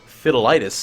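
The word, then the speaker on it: Fidelitas: At the end it is uh it is fideloss as Helman would say or fidilitis as Hijgemony would say. Uh hegemony has the proper pronunciation, but it's uh nothing too scary.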